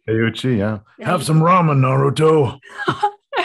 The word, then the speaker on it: Teuchi: Is that how you pronounce his name? Teuchi, yeah.